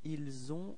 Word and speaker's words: ils ont: one we just saw, keep in mind that the verb avoir, to have this liaison, and so the sound for avoir is ils ont, elles ont, okay, but then for être it's ils sont, elles sont.